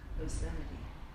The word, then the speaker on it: obscenity: today is it like OB uh no it's o b s c e n i t y obscenity obscenity yes obscenity where are we the charges